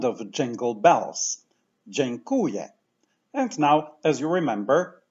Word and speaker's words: Dziękuję: in Polish has this sound of jingle bells Jane Kuya and now as you remember word stress falls on the syllable qu so let's say from the end